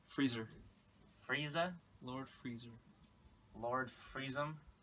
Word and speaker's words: Frieza: frza I like the stage the music It's pronounced Frieza friezer Frieza Lord freezer Lord Freez freezer Lord freezer